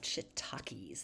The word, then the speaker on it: shiitake: So let's talk a little bit here about shiitakes. And this, by the way, is spelled with two I's.